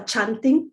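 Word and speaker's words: canting: such as this one it's called a chanting but it's spelt c-a-n-t-r-n-g so imelda will be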